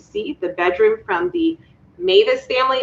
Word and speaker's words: Mewes: the bedroom from the mavis family we understand to pronounce mavis it's m-e-w-e-s and uh our apologies